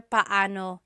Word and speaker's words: paano: It's technically paano. Paano. When there are two vowels together, you say them separately. Paano. But when speaking quickly, Filipinos just say paano.